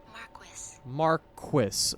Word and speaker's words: Marquess: So this is how you say it. Marquis. So it is as it seems like it should be written, Marquis.